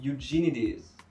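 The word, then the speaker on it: Eugenides: The Virgin Suicide de Jeffrey youjinides et oui j'ai regardé sur internet ça se prononce comme ça je vous jure du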